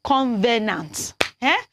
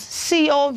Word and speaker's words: covenant: to pay attention to it is wrong to pronounce that word I spelled now as Covenant convenant the spelling is c-o-v-e-n-a-n-t so if you want to pronounce that word it's Covenant covenant not convenience okay so when you sing